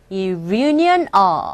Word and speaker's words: reunion: 우리가 귀에 들릴 때 reunion이라고 발음하지 마시고 reunion, union 조년 할 때 년 이렇게 발음이 되면서 reunion 이런 식으로 발음되고 들린다는 거.